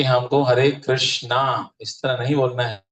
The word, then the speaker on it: कृष्ण: इसमें जो है हम ध्वनि को अंदर खींचते हैं, हरे कृष्ण, इस तरह से महाराज बता रहे। कृष्णा नहीं कहना है, रमा नहीं कहना है।